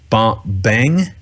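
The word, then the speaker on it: bhang: Some science, you know, historians and scientists have come to the conclusion that it was um I think it's pronounced bang.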